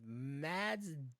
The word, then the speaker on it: Mads: Mads Mikkelsen. Mads Mikkelsen. Mice Mikkelsen. Mads So you Mikkelsen. don't even pronounce the D.